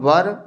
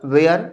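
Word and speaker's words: were: वहां पर वाज़ और वर याद रखना है कि जो इसकी जो प्रोनंसिएशन होती है उच्चारण वह हमेशा इसको देते हैं वर वेयर नहीं पढ़ते हैं।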